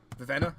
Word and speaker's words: Vivenna: We're still talking about Vivina, yes? Vivenna?